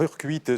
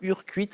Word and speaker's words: Urcuit: bienvenue bah c'est où Urcuit alors urcuite c'est un petit village à côté de Bayonne ok super c'est un joli nom je trouve urcuite avec un T donc il se prononce qui se prononce vous